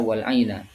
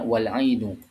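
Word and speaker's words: والعينُ: Itu di bacaan kita di bacaan alqisai itu bukan dibaca ee bukan dibaca wal aina tetapi dibacanya wal ainu yaitu di domah huruf nun terakhirnya.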